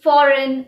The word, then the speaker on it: foreign: Examples are align, foreign, design, champagne, sign.